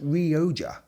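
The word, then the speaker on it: Rioja: Roija Some people pronounce it Ree-oh-ja, which is also fine.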